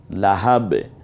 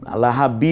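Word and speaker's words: لهب: হয় যেমন না তালাহা লাহাব এখানে দুই লাহাবি বলবো না লাহাব্বিন বলবো না থামার কারণে শুধু লাহাব বলতে হয় এরপরে যদি আমরা যেমন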